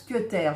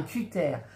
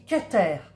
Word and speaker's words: cutter: Je ne dis pas un cutter. Parce que, en fait, le mot cutter, c'est pour couper, et du verbe en anglais to cut. Et on dit to cut. Donc je dis cutter.